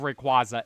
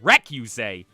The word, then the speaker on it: Rayquaza: off on noting that I I say Rayquaza Rayquaza I think does sound cooler and reu that that's just crazy